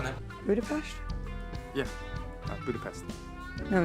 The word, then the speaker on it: Budapest: A Natasha fala com o Mason sobre Budapeste, e ele utiliza a pronúncia americana, mas ela corrige ele usando a pronúncia húngara, a pronúncia correta, né? Budapest? Yeah, Budapest.